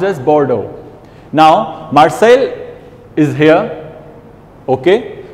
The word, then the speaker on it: Bordeaux: This, I know it says B-O-R-D-A-U-X, but it's pronounced as Bordeaux.